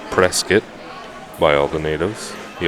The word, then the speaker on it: Prescott: one is Prescott Arizona most people say Prescott but it's pronounced press kit why all the natives